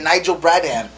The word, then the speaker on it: Nigel Bradham: The guy who I wanted the Packers to get, Nigel Bradham. I hope I'm saying his name right. Oh, you don't pronounce anybody's name right? My pronunciation you surprisingly did say that name right.